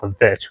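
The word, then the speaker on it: The VVitch: Today, we're going to talk about The Witch, or some people call it The Vitch, because that's how it's spelled on the poster and stuff.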